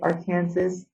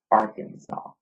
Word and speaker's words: Arkansas: It says the land area of, even though that sounds like it says Arkansas, the right way to say it is Arkansas.